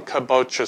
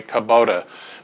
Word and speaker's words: kabocha: what we're going to be doing is cooking kabocha squash now kabocha is spelled c a b o c h a